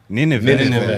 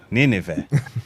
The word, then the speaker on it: Nineveh: Nineveh. You're saying it right. Nineveh.